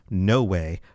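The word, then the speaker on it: Nówë: His original name was No Way, which sounds like no way, but, Tolkien with sometimes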